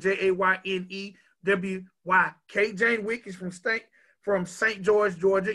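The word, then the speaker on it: Jayne Wyk: Miss Jane Wick.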